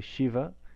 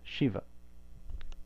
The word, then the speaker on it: Śiva: So most people say Shiva correctly because it's the palatal sibilant, and that's what we're used to in English. Shiva, Shiva, sha.